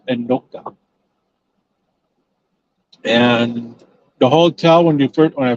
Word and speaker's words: Anoka: Now into Anoka, and that is pronounced Anoka, not Anaka, Anoka.